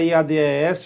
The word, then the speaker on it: IADES: Isso mesmo, filezão, sossegadão, banca IADES, ou IAD, se você quiser pronunciar, ou IADES, não é isso?